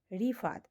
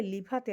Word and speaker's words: রিফাত: কি সুন্দর ছোটবেলা নাম রাখছিল রিফাত। তুই ররে কেল কে ল উচ্চারণ করে করে আমার নামটা রিফাত থেকে লিফাতে আনলি।